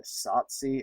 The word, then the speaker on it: Tsotsi: and South Africa's uh Tsotsi. I'm totally butchering this pronunciation. It's t s o t s o t s i uh 2006 That was